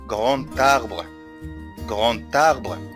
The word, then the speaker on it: grand arbre: ناخد بالنا في النطق لو عملنا ربط ما بين كلمة grand و arbre هنقول grand arbre. يبقى هنا في حاجة، حرف الدي قلب إلى تي في حالة ليزون أو في حالة الربط، فقلت d'un grand arbre.